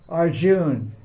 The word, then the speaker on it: Arjuna: Arjuna so West Arjuna it's not it's not correct should be Arjun you follow a you write you write AR a Arun in Sr with with David Agri uh but you don't pronounce it these are laws of